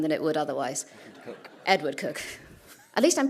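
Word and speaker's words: Edward Coke: in this room than it would otherwise cook Edward cook at least I'm pronouncing it's written Coke as well so it's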